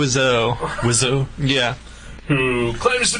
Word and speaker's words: Wiseau: Does anyone know how to pronounce his Tommy name? Wiseau.